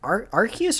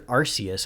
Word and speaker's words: Arceus: uh what was it is it arceus or arceus i've never known how to pronounce it it's both depending on where you are well either way it